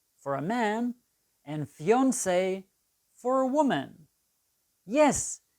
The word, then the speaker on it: fiancée: to marry, is your fiancé for a man and fiancée for a woman. Yes, these two words come from French. Fiancée and fiancé are pronounced the same.